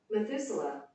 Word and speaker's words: Methuselah: is in Spanish how do you say it Methuselah Methuselah Methuselah okay and then of late uh 65 years have you ever gotten me too soon and enough walked with God after he had begotten Methuselah 300 years and he become sons and daughters